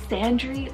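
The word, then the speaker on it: Sandrey: too cool then we have sandri spell s-a-n-d-r-e-y sandry or you can do sandra i think that would be a handsome kind of pronunciation alternative and it's a habitational name from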